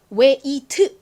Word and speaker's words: wait: 이걸 발음하실 때에는요. 너무 wait 이렇게 1대 1대 1 정직하게 발음하기보다 앞에 팍 강조가 들어가고요. 그리고 뒤에 트는 소리가 아주 작게 잦아드는 소리가 나요.